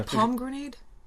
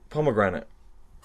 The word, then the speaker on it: pomegranate: ice probably and yeah palm grenade pomegranate oh yeah palm grenade the grenade that's how it's spelled isn't it no pomegranate p.o.m.e yeah pum means apple in french yes right okay i think